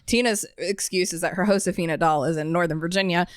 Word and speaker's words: Josefina: Remember that in Spanish, H is pronounced Wait, J is pronounced like H. That means Josefina's name is Josefina.